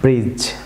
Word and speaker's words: bridge: যেমন ফলো করুন BRIDGE viewers, এখানে ডিজি কম্বিনেশন আছে, সো এই ডি লেটারটি সাইলেন্ট থাকবে। আমার সাথে বলুন ব্রিজ, ব্রিজ।